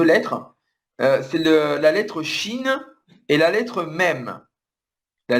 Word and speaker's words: Shin: On écrit plutôt S-H-I-N. Mais oui, c'est la même prononciation.